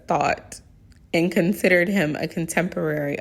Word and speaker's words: Thoth: Masons also associate Hiram Abiff with Hermes Trismegistus, the Greek name of the Egyptian god Thoth, which I usually pronounce it as Thought, and considered him a contemporary of Moses and Solomon, whom Mr.